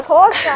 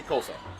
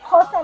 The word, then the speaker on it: Xhosa: I'm Xhosa. Now say it the right way. Now say how do you say Kosa? Okay. Yeah. Ndingumxhosa, ngisuka Eastern Cape eBizana. Where's the click though?